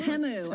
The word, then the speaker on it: Temu: It's Temu. I actually had to Thank you. Google to see how to pronounce it.